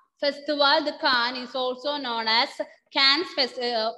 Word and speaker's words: Cannes: How will you pronounce it? Cannes. Ending letter S will be silent.